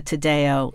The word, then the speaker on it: Taddeo: even more than really thrilled to have Lisa Tadeo in the studio I hope I'm pronouncing your last name yes you are might